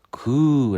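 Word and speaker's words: 空: 이는 비어 있는 또는 공석 을 의미 하며 , 일본어로 는 " 쿠우 " 라고 읽습니다 .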